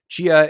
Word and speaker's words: Tchia: So it's pronounced Tchia, but it starts with a T.